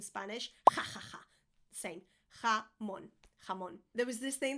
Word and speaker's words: jamón: Jamón, not jamón. I get palpitations every time somebody says jamón, or even worse, jambon, and they say it in French.